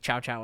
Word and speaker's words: Cao Cao: the villain, Cao Cao, who is pronounced by the English narrator in the beginning of the film like Chow Chow, I think. But I'm going to keep saying Cao Cao.